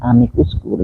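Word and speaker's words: amicus: itu mestinya kalau kalau itu bahasa Latin mtinya bacanya Amikus amus saya Saya ibu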